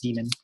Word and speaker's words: daemon: this word right here actually technically pronounced demon but I'm just gonna